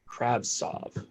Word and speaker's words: Kravtsov: How do you pronounce his name? Kravtsov.